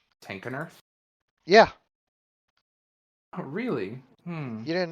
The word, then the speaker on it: Tenkenurth: I always pronounced it as if the K was silent. Huh. Weird. Yeah, in my head, I always read it as Tannereth.